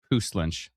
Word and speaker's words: Puslinch: Kate says Puslinch.